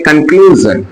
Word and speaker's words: conclusion: ल, यू को उ, और SION को पढ़ेंगे जन। इसे पढ़ेंगे कंक्लूजन, क्या है, कंक्लूजन, कंक्लूजन, कंक्लूजन, यानी इसे कंक्लूजन पढ़ेंगे, कंक्लूजन नहीं कहना है।